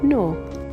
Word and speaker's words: gnaw: the dog started to gnaw on the bone nor Nash the monster began to gnash his teeth